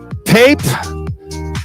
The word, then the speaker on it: Pape: Are we saying that right? Pape, P-A-P-E?